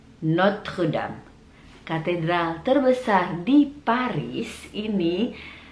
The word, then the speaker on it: Notre Dame: Kemudian berikutnya ada Notre Dame. Notre Dame. Notre Dame.